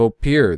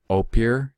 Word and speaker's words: Ophir: You have this land of Ophir.